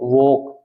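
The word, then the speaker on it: walk: इसमें L silent है टॉक वक ए के साथ में एल आता है साइलेंट रहता है ये बहुत मोस्ट इंपोर्टेंट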